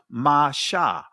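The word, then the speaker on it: משה: So they're telling you it's pronounced masha. Masha, this dot is to the right. So instead of saying it, it'll be pronounced with a shh.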